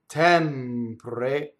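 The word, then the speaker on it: tempre: So in the word tɛmpre, the stress is on the first E, which is open, right? The unstressed one is closed.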